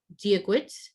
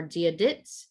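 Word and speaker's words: Dia dhuit: So hello is diagwit or diadit, depending on your dialect, or diayiv.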